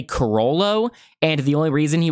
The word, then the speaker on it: Chrollo: was confident in saying Coro was because the trailer was right about to be shown right because Coro uh if you were to speak it in Japanese pronunciation would be cororo and so the roro